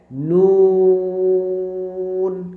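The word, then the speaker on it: نون: নুন। ওকে। তো এই নুন বলার সময় কিন্তু আমাদের ঠোটটা একটু গোল হবে। নুন হরফ বলার সময় ঠোটটা কি করতে হবে? একটু গোল করে বলতে হবে। নুন ওকে নুন বলতে হবে।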